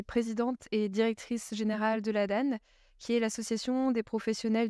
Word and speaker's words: l'Adan: la Danane ou laad je ne sais jamais comment on prononce alors on accepte les deux nous on va plutôt prononcer la Dane euh en tout cas